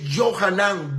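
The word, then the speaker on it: Yohanan: no no tiene sentido Pero cuando lo pronuncias en hebreo que es johanan vence calla En otras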